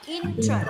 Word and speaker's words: interest: Cái này đọc là interest. Nhớ năm đầu này.